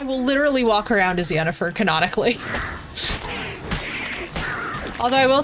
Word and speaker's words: Yennefer: me sad is that a lot of Europeans call her Jennifer instead because of the pronunciation of the Y and I'm like no it's Yen I'm like it can only be Yen like don't call me